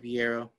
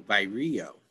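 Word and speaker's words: vireo: white eyed first and I think I said it wrong by Rio I'm sorry by Rios how you would say that so that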